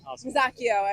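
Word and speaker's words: Macchio: So, it's a hard C. Yeah. Makio, as the Italians would say.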